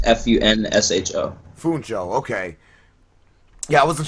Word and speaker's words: Funsho: It's Funsho. Funsho, okay. Yeah, I wasn't sure how to pronounce that, man.